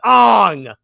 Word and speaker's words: Aang: we found out that it actually is pronounced Ang how does again I